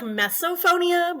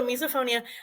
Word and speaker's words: misophonia: what I said uh you said like mesop phonia but it's miso yeah wrong close but not my pronunciations need a little work so misophonia approximately one in five